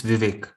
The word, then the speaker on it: Vivek: answers and um how do you say your name is a vivec or vibec i really hope that it's vivek vivek okay vivek thank you and then